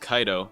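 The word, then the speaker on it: Kido: tree by the way keto is actually pronounced kaido that's how they say it in Bleach so to the people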